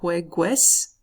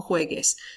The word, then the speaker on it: juegues: It's not juegues, okay? The U, all it does is make that G into a hard G sound, like in the word hamburguesa. So, no juegues.